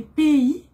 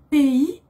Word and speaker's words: pays: Aujourd'hui, on apprend les pays et nationalités. Pays, attention, on ne prononce pas le S.